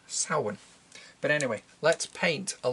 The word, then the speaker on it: Samhain: celt I feel obligated to say it's not pronounced Samhain is pronounced Sauron but anyway let's paint a little more of